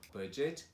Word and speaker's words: budget: Então, quando você vê o D e o G together, continua pronunciando como J. E daí só coloca o T no final. Então, budget, widget and gadget.